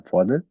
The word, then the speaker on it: P: कैसे हम प्रोनाउंस करेंगे? ओपा, ओमा, उंकल, ओप्स्ट, ओट। ओपा हम कहते हैं ग्रैंड फादर, ओमा ग्रैंड मदर, उंकल अंकल को, ओप्स्ट फ्रूट को, ओट प्लेस को।